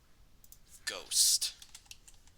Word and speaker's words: ghost: So like for example, ghost. This one is riddled with problems. You don't need the H. The H is silent, so it's go.